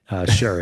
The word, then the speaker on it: Sherr: I've heard, it's kind of like my last name, Sherr. It's pronounced in every which way.